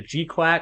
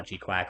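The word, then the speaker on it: GQuuuuuuX: I'm like, how do you say the name of this? Is it the Gquack? I mean, I know most people call Gquack or the G F U X.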